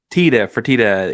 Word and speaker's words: Fertitta: Is it the Fertitta Center or Fertitta? Fertitta. He's a restaurant mogul and entertainment mogul.